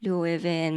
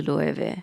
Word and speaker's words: Loewe: In America, I've heard people say Lo-e-way, Lo-e-way, Lo-e-way, Lo-e-ven many other versions. In Japan, we just say Lo-e-ve. And the original pronunciation is closer to Loewe.